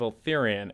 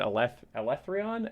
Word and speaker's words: Eltharion: I, for the longest time, was saying Tales of Eltharion, and I got corrected because we were watching some of the videos by the creators, and they said Elethrion, and I was like, oh shit, I've been saying it wrong this entire time?